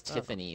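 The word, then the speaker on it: Tyffoni: My character's name is Tiffany, but it's spelled T-Y-F-F-O-N-I.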